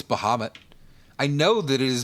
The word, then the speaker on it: Bahamut: Like m that's a common misprononunciation of Bahamut is Bahamute.